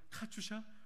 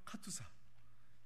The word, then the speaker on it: 카투사: 여러분들의 발음으로는 카투샤, 원래 발음은 카투사.